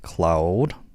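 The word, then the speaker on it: Claude: C L A U D E. Cloud, not cloud. Cla.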